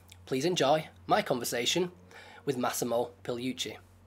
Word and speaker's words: Massimo Pigliucci: The G is basically silent. So yeah. Massimo Pigliucci.